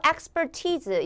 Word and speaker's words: expertise: 동사 원형 have expertise 여기는 발음이 t즈입니다.